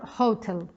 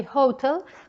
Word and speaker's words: hotel: one is not possible it's a h aspirated and therefore it is pronounced in a different way when we say hotel we aspirate the sound